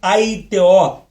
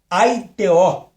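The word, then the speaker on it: αἰτέω: Dizer essa palavra, essa palavra dizer, ela vem do grego original, que quer dizer aiteó. Aiteó. Aiteó. Esta é a pronúncia a ITO que traduzido é determinar, ordenar, exigir, palavra de de ordens, mandar, querer.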